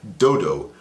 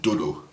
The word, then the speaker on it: dodo: She was like, dodo. I pronounce it dodo. Yeah, you know, because I have a strong voice, so I can pronounce it right.